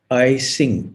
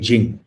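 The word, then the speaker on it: I-tsing: they they call it i sing e-t-s-i-n-g but i think it's pronounced jing so the jie jing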